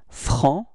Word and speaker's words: franc: So masculine form is franc. So you don't pronounce the final C, okay?